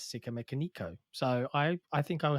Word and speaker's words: Sikamikanico: really great track uh i say a lot of people just call me sick um but yeah in the red hot chili pepper song they do indeed pronounce it as sika mekoniko so i i think